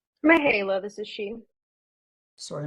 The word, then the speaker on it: Mahala: Mahala, this is she. Sorry, I mispronounced your name.